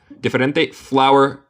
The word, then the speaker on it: flour: Flour and flowers se pronuncia igual. Sí, exactamente igual. Deletreamos diferente. Flour como flor y flour como harina. Sí, se pronuncia exactamente lo mismo.